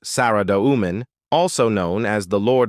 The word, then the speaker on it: Saradomin: Saridomomen, pronounced Sariduman, also known as the